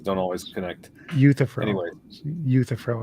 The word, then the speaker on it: Euthyphro: Euthyphro is how you pronounce that.